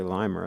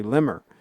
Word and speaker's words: Limmer: Peter Leimert ooh Limor I shouldn't say Lima I should say Limor should pronounce his name right